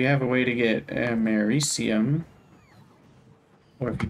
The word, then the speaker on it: americium: I mean, if we have a way to get americium, or if you pronounced it the same way as Omni does, it'd be americium, but that's incorrect.